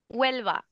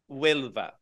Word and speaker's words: Huelva: Okay, say it so I can pronounce it. Huelva. Huelva.